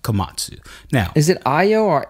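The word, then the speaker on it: Komatsu: happening right now I I oo Io Io kamasu kamatsu that's right kamatsu now is it IO or AO AO kamu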